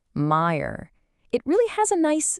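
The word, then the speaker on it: մայր: And of course for mother, the word is meer. Pronounced meer.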